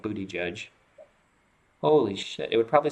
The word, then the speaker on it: Buttigieg: This is literally how you pronounce his name. Look it up. It's captioned Booty Judge.